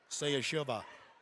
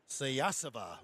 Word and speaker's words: Sayasava: 2 free throws coming up for Payson Sayashiva. Allie Davis picks up her first. Sayasava. Okay, I've been just doing the syllables wrong. Sayasava is how you say it.